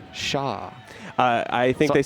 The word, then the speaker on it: Xia: It is pronounced Shah. Shah. I think they said everyone's pronouncing they it said Zaya or Zia will suffice, but like I was like, it's Shah.